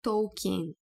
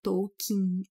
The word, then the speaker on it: Tolkien: Tu lembra a pronúncia as pessoas falam tipo token porque parece que na língua inglesa Esse é a pronúncia que a pessoa vai pensar de primeira né mas não é assim que fala o nome dele é tokin E aí estamos aqui